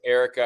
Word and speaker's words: Erica: My name was Erica. I'd spell it. Like wreck in the air.